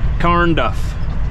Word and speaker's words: Carnduff: Carnduff. Not corn, Carn.